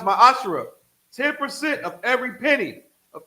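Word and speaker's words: מעשר: Malachi 3 8 through1 means 10th in Hebrew is pronounced my ashra 10% of every penny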